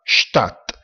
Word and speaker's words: Stadt: La D alla fine di una parola, o seguita dalla T sempre alla fine di una parola, si pronuncia T, infatti città, Stadt.